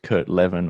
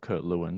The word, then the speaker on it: Kurt Lewin: change management's guy called kurt levin or kurt lewin depends how you say it and he said